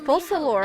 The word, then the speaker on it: Focalor: Oh, she pronounces as Focalor, huh?